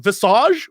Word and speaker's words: Visage: scare games we just played a game called visage which I've been told is supposed to be pronounced visage which I've never heard of in my life